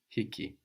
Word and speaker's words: hii: refer to book hiab hii good and be careful to pronounce that h no hii and that book you